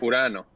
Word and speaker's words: Urano: Urano. Oh. No, it's not a joke. Wait, Pronounced.